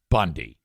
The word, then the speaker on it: Bounde: Looks like bound or boundy, but it's not. It's pronounced Bundy.